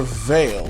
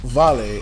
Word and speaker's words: Vale: today i'm going over veil or more correctly pronounced vale if you're brazilian veil is currently my